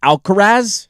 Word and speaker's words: Alcaraz: The last time Scotty Scheffler missed a cut, Sinner and Alcaraz, is that how you say it?